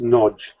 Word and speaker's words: Nagy: as a o sound just like the a in an English word like what or Swan it's got an o